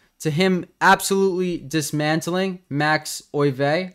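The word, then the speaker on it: Euwe: him absolutely dismantling Max o I thought it was Max U but apparently it's Max o trying to be respectful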